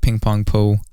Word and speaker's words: PingPong Po: another thing is uh people were actually like pronouncing the name wrong you know i felt like it was pretty easy to pronounce you know ping pong po but people people would uh call me like ping po and stuff like that